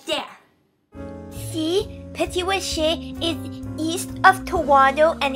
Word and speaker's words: Petit-Rocher: Yeah, Petit-Rocher. Rocher, Rocher, Rocher, Rocher. And we'll show you on the map. It's right there. See? Petit-Rocher is east of Toronto and it's in New Brunswick.